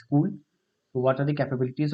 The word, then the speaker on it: CeWL: It is pronounced as cool.